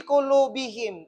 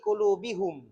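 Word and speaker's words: قلوبهم: Fi qulubihim tidak mengatakan fi qulubihum.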